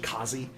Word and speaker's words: Quasi: so the kazi grazer or i think it's quasi but they they have weird pronunciations in the universe so it's actually quasi is how it's about how it's pronounced which is q-u-a-s-i um comes from the